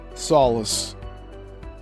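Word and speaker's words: Solis: Solace, that's spelled S O L I S, notes that quote, "Dissimilar substances can simply come together, yet the individual substances do not disassociate.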